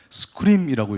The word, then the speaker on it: 스크림: 이 소개해 주신 분께서 저희 솔루션을 굉장히 잘 발음해 주셔서 정말 감사한데, 맞습니다. 스크림이라고 읽습니다.